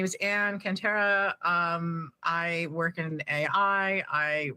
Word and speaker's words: Cantera: And to do that, I have a very special guest with me today, and it's Ann Cantrell. I did spell it say your last name right, Cantrell?